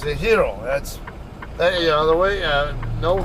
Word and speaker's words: gyro: that word looks like gyro to an American but Greeks and Spanish speakers uh alike usually pronounce that word hero or or so um